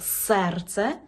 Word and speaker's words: serce: роблять мої російськомовні студенти у польській мові е читається як звичайне Е ні в якому разі не є це не російська мова Наприклад ми маємо слово серце значить чітко вимовляємо е серце не серце серце Наприклад ми маємо